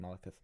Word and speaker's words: Malekith: Yeah, it is pronounced Malekith.